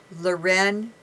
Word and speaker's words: Leuren: it online we have it on our website luren Moray and my name is spelled l e u r e n